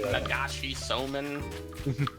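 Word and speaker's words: 流しそうめん: Nagashi Soman Uh, fucking stand or whatever. I think that's how they pronounce it.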